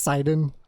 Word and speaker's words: Sidon: listen to what dear prince Sidon has to say just Sidon like post I know it's sudden but you'll understand everything once you get there trust me you'll see I'm going off of mythos pronunciation of his name because we actually do have an example via DLC of her saying his name's and she says site on site on never heard of Pope